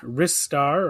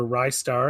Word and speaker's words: Ristar: Third one is Ristar or Rystar. I've heard it pronounced both ways.